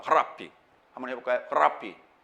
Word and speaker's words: 랍비: 정확한 발음은 랍비. 히읗 발음과 알 발음을 섞어서 발음합니다. 랍비.